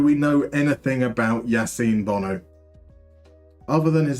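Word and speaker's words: Bounou: yasim Bono do we know anything about Yasin Bono other than his name is spelled boonu but pronounced Bono know um there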